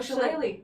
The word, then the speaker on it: shillelagh: Oh, Shillelagh.